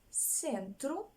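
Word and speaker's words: centro: французької рядом інших мов де се якщо вона стоїть перед е і вона читається як с два слова запам'ятаємо з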